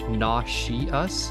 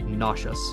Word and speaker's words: nauseous: This word is tricky because it looks like it might be pronounced naw-she-us, but it's actually nauseous.